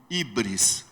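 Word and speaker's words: hybris: esse pecado eles davam o nome grego de ibris se escreve H Y B R S ibris O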